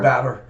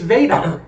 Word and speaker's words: Vadar: Two different select board members, said that we use Vadar software. Batter. Which it's Vadar.